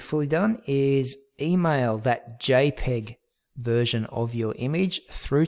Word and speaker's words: JPEG: change it to the second one jpg pronounce jpeg okay and that should